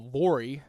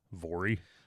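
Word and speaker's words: Voirrey: Vory. I don't know. There was I heard several different pronunciations. I just went with what rhymed with my name is easier to remember.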